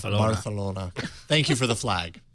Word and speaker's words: Barcelona: February 25th uh in Barcelona as we said Barcelona you got to say it correctly barcelon Barcelona thank you for the